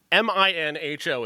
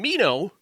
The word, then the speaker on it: Minho: The character Minnow, I mentioned him. Minho is his name, but his name is pronounced 7 different ways in this movie.